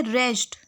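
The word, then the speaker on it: wrest: okay 1 word है रेस्ट इसमें W silent होता है रेस्ट ऑप्शन सेटिस्फाइड कंटेंटेड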